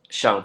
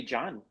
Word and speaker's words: Jean: And in Dominican Republic, they know how to read your first name. Yeah, they say John.